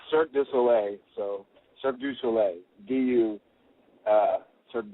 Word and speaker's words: Cirque du Soleil: What is the correct pronunciation of it? It's Cirque du Soleil, so Cirque du Soleil, Cirque du Soleil.